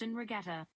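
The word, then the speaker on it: 'Ndrangheta: It has a weird N in front of it. I can't do it. Hey Google, how do you pronounce Ndrangheta? That's pronounced Ndrangheta.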